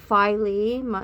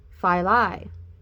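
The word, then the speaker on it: Philae: some may pronounce it filey some May pronounce it fi this is what was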